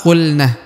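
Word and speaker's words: قلنا: Pertama qulna, huruf lam ya, harokat sukun dibaca qul.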